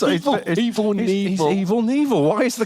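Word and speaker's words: Evel Knievel: I think you'll find it's evil nil silent k yeah people think we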